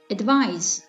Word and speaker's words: advise: The first pair of words is advice and advise. Do you hear the difference in pronunciation between these two words? The difference is in the final consonant s and z.